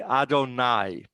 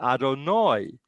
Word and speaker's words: Adonai: you're referring to god you say adonai now you may have heard uh some people say adonoi and that comes from the ashkenazi where the the commates is pronounced or instead of ah so then because uh